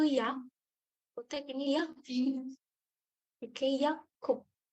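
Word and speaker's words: 약국: Oke, Yakup. Bacanya bukan Yakub ya, karena ini ada giok ketemu giok lagi. Dia jadi Kak.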